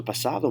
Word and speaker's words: pasado: that so quiet notice that we say ds in the middle of words in spanish a lot of times it's going to have a th sound to kind of soften things so pasado rather than pasado if you say pasado